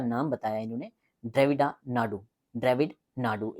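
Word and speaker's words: திராவிட நாடு: ड्रविड नाडू ए silent रहेगा।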